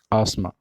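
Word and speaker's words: asthma: इसको आत्मा बढ़ते हैं लोग इस note अस्थमा right the correct from princess आसमां ठीक है कि आसमां मा कि आसमां स्कूल ज्यादा खींचना पड़ता है जो बड़ा फिजिशन है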